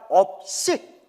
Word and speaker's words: 업식: 발음 잘해야 돼요. 업식.